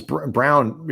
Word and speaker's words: Braun: It is hard to find, but a guy with that kind of like is Christian Brown, Christian Brown, spelled Braun, pronounced Brown.